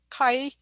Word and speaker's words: chi: using a chi-square test and kai is a greek word well it's a greek letter actually chi square that's how it's spelled so don't don't write